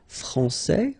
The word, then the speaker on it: français: So like français, for instance. So il est français, okay. And if we follow the main rule, elle est française. Okay, so français, here you get this final S that you don't pronounce, so français, and